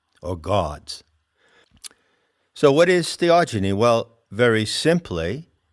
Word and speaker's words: theogeny: ever heard the word theogeny i coined that term when i wrote the seekers handbook it's spelled h e o g e n y genie as in genesis generation epigenesis genetics so what it means